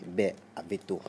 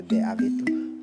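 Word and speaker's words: Bè-Avéto: Mais pour la procédure du jour, nous avons choisi le quartier Bé Aveto. Bé Aveto. Bé Aveto s'écrit B, accent grave, tiret, A, V, E, accent aigu, T, O.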